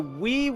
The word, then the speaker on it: Wii: He said Wii, and he had to say it sounds like the word Wii, W-E.